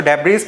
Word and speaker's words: debris: So debris means debris, or we read it to be derris, okay. So B is silent here.